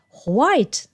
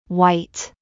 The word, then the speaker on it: white: 多いですでも本当の発音はほっていう音はないです White ほとんど White に聞こえますそれから先生も